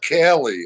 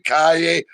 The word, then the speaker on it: Calle: I said, not Cali. I said Anyway. I said the two L's are pronounced Y, like a Y. He goes, whatever. Cali, Calle.